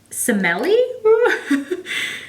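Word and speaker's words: Semele: is does it say i think simeli s-e-m-e-l-e not like smelly like ill you smell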